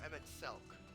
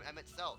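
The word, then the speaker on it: Emet-Selch: custodian also the M it's a hard K not a h emit s or EMT CK what huh wait have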